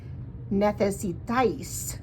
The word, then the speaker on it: necesitáis: Necesitáis, sounds like ice.